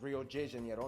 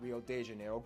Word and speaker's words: Rio de Janeiro: That's right, it's pronounced Rio de Janeiro, not Rio de Janeiro. Get it right, we're not in Mexico, this is Portuguese, not Spanish.